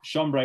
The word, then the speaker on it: chambray: Yeah, chambray works too.